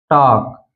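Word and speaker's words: talk: जैसे टॉक, वॉक, चॉक, तो इन तीनों वर्ड में आप देख सकते हैं यहाँ पर के से पहले यल आया है इसलिए यल साइलेंट है।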